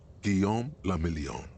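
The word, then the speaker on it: Guillaume Le Million: meant only one thing guillaume lamillion if it doesn't dry you're not pronouncing it right out of the dazzling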